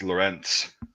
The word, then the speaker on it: Lorenz: Lorenc. Z. Yep. Z. But the way the Germans and the Austrians pronounce it, it's Lorenz. So, Lorenz.